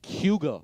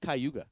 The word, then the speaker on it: Cayuga: you know what's called cuga Lake that's how the locals pronounce it not Cayuga gotcha did you know